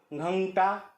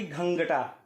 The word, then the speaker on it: घंटा: घंटा का उच्चारण जब भी आप करेंगे तो ड़ा का उच्चारण करते हुए आपको इसका उच्चारण करने की कोशिश करनी पड़ेगी, घंटा ना कि घंगटा।